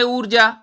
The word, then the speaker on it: ऊर्जा: उच्चारण है ऊर्जा, तो आपको नाम से ही पता चलेगा कि ऊ दीर्घ है, ऊर्जा।